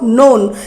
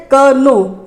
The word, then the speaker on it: known: Second form नोन, KNOWN नोन। Third form इसका pronunciation नो, कई बच्चे करते हैं क नो, नहीं रॉन्ग है, बिकॉज इसमें के साइलेंट है।